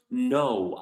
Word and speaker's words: know: We write it with a K, but the K is not pronounced because it comes right next to a N in the beginning of the word.